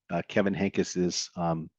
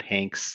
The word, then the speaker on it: Henkes: want to see, Kevin Henkes's Kitten's First Full Moon. So you can go here, you'd get the materials about how to say his name, that it's Kevin Henkes, not Hanks, not Hankies, Henkes.